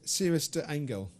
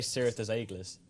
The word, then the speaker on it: Cirrus des Aigles: You give the French pronunciation for me. I've got here, I'll go for it, Cirrus de Angel. No. No. Oh, there you go. Well, I personally say I say Cirrus des Aigles, but everyone says it different, it seems.